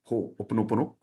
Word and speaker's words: Ho'oponopono: Okay, normally it's pronounced as, this is actually one word, Ho'oponopono, but people get confused with that one word.